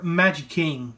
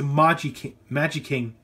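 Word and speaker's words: Magiking: in Dragon Mode, or Magic King from Magic Ranger. So I think I mispronounced it. I think it's Magi King and Magi Ranger. That's what I meant to say.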